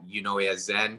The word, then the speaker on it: Eunoyazen: My handle is at Unoyazen. That's spelled EUNOYAZEN.